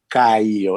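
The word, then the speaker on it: Caio: name okay it's uh caillou it's it's it's pronounced like kyle but it's written differently because it's portuguese right it's c-a-i-o and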